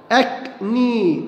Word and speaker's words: acne: معناها قمة أو ذروة، أكني، أكني حب الشباب، أبوستروفي، أبوستروفي، أبوستروفي، هنا الإي اتنطقت وهنا الإي اتنطقت وهنا الإي أيضا اتنطقت.